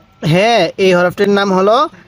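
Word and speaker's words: هاء: ওয়াও ওয়াও এরপরে বলবেন এই হরফটির নাম কি হ্যাঁ এই হরফটির নাম হলো হা হালকা আওয়াজ করবেন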